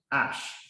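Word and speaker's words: אש: Fire pronounced ash.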